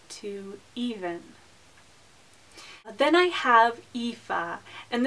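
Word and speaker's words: Aoife: even then I have epha and this name is sometimes compared to Eva it's not quite the same pronunciation but it's similar it means Beauty and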